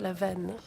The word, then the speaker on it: Lavesne: Rémi Lavesne, this magician, it's Lavenne, don't pronounce the S, he's from Toulouse.